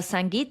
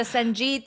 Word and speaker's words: Sangeet: Yes, and I was pronouncing everything wrong. So I was like, oh, I'm going to be at the Sangeet, and then I need a lehenga. No, it's Sangeet and lehenga.